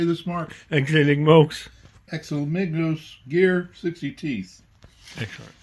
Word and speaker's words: Exeligmos: Exeligmos.